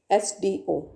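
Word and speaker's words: SDO: मैन एस डी ओ आप pronounce करके देखो एसडीओ एस आपको देखने में कॉन्सोनेंट लगेगा लेकिन यह एस एस साउंड क्या कर रहा है एक ही साउंड कर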